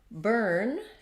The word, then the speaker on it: burn: So burn has our vowel that we were just talking about, that we can spell all those different ways, like turn.